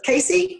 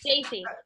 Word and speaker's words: Jaci: Tell me who she, Casey? No. Jaci. Jaci? Oh, Jaci. All right. I knew it wasn't a K, but I couldn't remember.